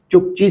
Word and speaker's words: Chukchi: और इसके बाद आपको और पूरब में अगर आप जाओगे तो आप देखोगे चुक्ची सी, चुक्ची सी लिखा होगा, एक छोटा सा लिखा होता है।